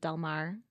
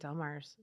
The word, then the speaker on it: Del Mar: So more Spanish influence. Yeah. Yeah. Yes. Right. Yes. Yes. Less French. Less French. But I don't even think Del Mar's French.